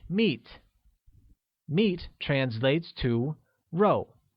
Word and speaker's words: 肉: Meat translates to row, which is pronounced with a falling tone, like row.